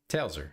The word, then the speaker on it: Tailser: Because it's really close to Taylor. You just add a S in there and it's Tailser.